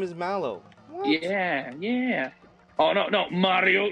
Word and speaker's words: Mallow: Well, yeah, why else would he be named Mellow?